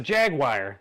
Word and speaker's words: Jaguar: cost by today's standards Jaguar I like to say it like that from Cartman all right cuz you know people get mad if you just say Jack jagu it's a Jaguar it's a Jaguar anyway